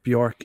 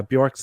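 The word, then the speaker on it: Björk: infested cave in Nassau in the Bahamas and bork is named after a tree uh bork's name means birch tree in Icelandic which is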